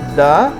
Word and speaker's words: the: जुमले के दरमियान में नज़र आ जाए तो दी पढ़ लेना। लेकिन इस बेचैन रूह को अब भी तसल्ली ना हुई। बिलाखिर उलमाए ग्रामर ने बताया कि THE will be pronounced द before a consonant sound, यानी अगर लफ्ज़ THE